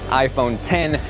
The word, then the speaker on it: iPhone X: yo guys johnathan here and this is iPhone 10 that a clear things up but yes it is spelled out i phone act the correct pronunciation just like final cut just like logic is iPhone 10 the number now this was the first Apple